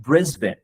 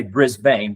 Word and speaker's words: Brisbane: We'll visit the city of Brisbane. Now, Americans, we typically say Brisbane, but this is actually pronounced Brisbane, and it's not really on the radar of many tour operators.